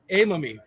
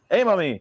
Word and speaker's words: Aymami: ben uh it been part of my my pronunciation of your last name uh say it for me if you would a mommy hey mommy so we've got vanilla here with us today i mommy that's what it is perfect all right so